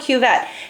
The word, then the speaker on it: cuvette: good view of it this is called a cuvette c-u-v-e-t-t-e-q-vet you don't need to know how to spell that but this is called a cuvette and look on this side the sides are